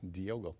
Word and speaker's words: Diogo: Diogo, am I saying it right? You got it. Diogo.